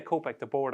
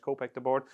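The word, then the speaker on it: Kopek Des Bordes: your I should say copc the board I keep pronouncing the S but obviously it's French copc the board what's your thoughts you're a big K.T fan are you still a big k.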